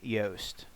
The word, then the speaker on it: Yoast: for is SEO by yast and that's to it's spelled like toast with a Y so let me search